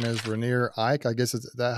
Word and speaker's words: Rainier Eich: His name is Rainier Eich. I guess, is that how you say it, Rainier? Rainier Eich. Rainier Eich.